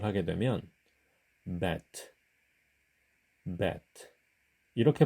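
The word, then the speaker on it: בית: 배트의 경우 한글 자음 비읍으로 발음을 하게 되면 베트 베트 이렇게 부드럽게 발음을 하게 돼요 하지만 유성음인 영문자 미로 발음을 하게 되면 bet 이렇게 발음합니다 배트에 비해서 매트는 바로미 더 강하죠 히브리어의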